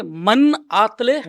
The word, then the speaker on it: मन आतले मनातले: इसका नाम है मन आतले मनातले. मनातले. कोई बोल देता है मनातले मनातले, बट दैट इज बरोबर, रॉन्ग. इट्स बरोबर. मन आतले मनातले.